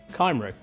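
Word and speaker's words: Cymru: It's pronounced, would you believe, Kymru. Ah.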